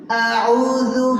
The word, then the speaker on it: أعوذ: আটা উচ্চারণের সময় খেয়াল রাখতে হবে, অনেকে আউযু পড়ে বা আউযু, আউযু হবে না, অত স্টাইলিশ করা লাগবে না।